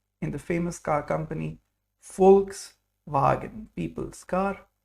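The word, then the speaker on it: Volkswagen: have V for victory in English it's pronounced like f in German so there's a special sound here V is fou like f in the famous car company folks wagen people's car folks wagen very good then we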